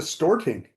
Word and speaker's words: Storting: Yeah, not to mention the Storting. That's how it's pronounced.